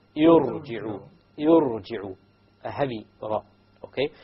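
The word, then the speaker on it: ارجعي: You cannot pronounce the silent ra. You need a letter or a vowel before it. Therefore, the Hamzatul Wasl has been placed.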